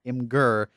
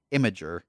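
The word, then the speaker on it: Imgur: to address that question so it's not in ger but supposed to be pronounced like imager cheers Hans there you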